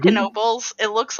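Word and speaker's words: Knoebels: dirt poor pennsylvania towns go back and forth with whether or not you pronounce the k and k nobles that's how you know we're authentic pennsylvanians but seriously if you if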